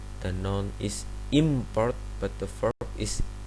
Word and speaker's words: import: In English, for example, the noun import and the verb import have exactly the same segments, but the words are distinguished according to which of the syllables are stressed. The noun is import, but the verb is import.